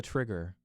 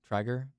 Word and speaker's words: Trygger: And lastly, Tilda Trigger. I hope I'm saying that right. That's crazy. Triger? That's crazy. Probably Triger. Tilda Yeah. Triger? Considering it's spelled Trygger.